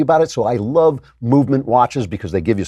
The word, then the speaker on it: MVMT: Movement is spelled MVMT, so you don't have those expensive vowels that drive up the prices of most watches.